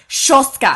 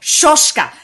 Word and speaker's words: Soska: And she's like, "I just really want to go over with you the correct pronunciation of their last name." And she was like, Soska, and I'm like, Soska. And she's like, Soska.